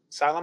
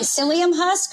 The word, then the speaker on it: psyllium: So, I bought some uh how do you pronounce it? Sylleum Sylum Husks. Uh, so it's like, oh, like psyllium husk or psyllium husk. Thank you. I always say sylum.